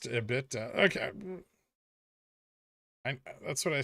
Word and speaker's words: EBITDA: It's pronounced EBITDA.